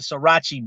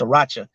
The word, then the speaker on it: Sriracha: right they call it they call it srirachi but really I think it's pronounced Sriracha right and that stuff's pretty